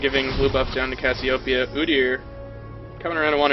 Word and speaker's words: Cassiopeia: Apparently I'm being told it's Cassiopeia, not Cassiopeia. Hey man, to each their own. You want to say Cassiopeia? Well, actually, it is a name of something from Greek mythology, so there is a correct way to say it in an incorrect way.